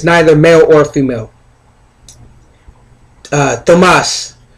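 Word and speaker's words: Thamuz: male or female uh thomas some say thomas but tomas and it's spelled t-h-a-m-u-z is an ambassador of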